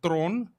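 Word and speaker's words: Theron: her surname is pronounced throne it's charlie's throne that's afrikaans way that's she's from bononi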